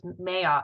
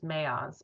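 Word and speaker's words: Maoz: I think it's Mayoz, M-A-O-Z. I think it's Mayoz, but I'm not positive.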